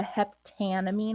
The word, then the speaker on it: heptanamine: I think specifically with amines, the way it is pronounced can be a little bit, it sounds almost a little awkward, because we have the heptanamine, we have the an and the amine back to back.